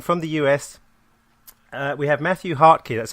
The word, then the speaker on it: Mathew Hartke: So on the line from the US, we have Mathew Hartke.